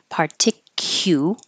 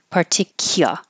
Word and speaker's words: particular: we started with particular you can be more careful and say particu or particular is more casual so particular in particular